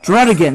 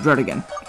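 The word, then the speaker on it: Druddigon: how to pronounce it according to the anime throat again dread again that's how you pronounce it dread again okay there we go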